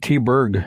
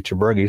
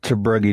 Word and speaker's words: Tabruggy: No, actually growing up, I always pronounced it T-Berg growing up, but I found out it was I was told it was supposed to be Tabruggy, so that's what I went with.